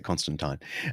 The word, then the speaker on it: Constantine: and by the way in the british australian tradition we pronounce it constantine um there you go